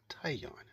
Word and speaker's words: tignon: A tignon, also spelled and pronounced tayon, is a type of